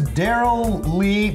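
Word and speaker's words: Darrell Lea: called it's called Australia's Daryl Lee spelled like tea though like this drink Lea strawberry liquor from Trader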